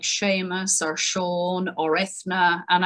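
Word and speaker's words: Seamus: about irish people if they've got names like sheamus or shawn or ethner and i'm sure abbott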